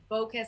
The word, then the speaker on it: Baucus: I think, it's very important to get in touch with Senate Finance Committee Chairman Max Baucus. I think that's how you pronounce his last name. Baucus, yeah, from Montana.